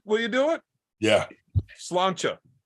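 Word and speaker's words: Sláinte: to pronounce it, will you do it? Yeah. Slancha. Cilantro.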